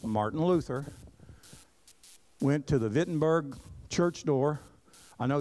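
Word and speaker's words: Wittenberg: Luther went to the vitberg church door I know it starts with a w in German it's pronounced with a V and he nailed him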